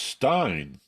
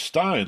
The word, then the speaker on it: Stein: It was either Goldstein or Bernstein, but he said it's pronounced Stein. I never know whether it's Goldstein or Goldstein, you know. He said, no, it's Stein, like a beer stein.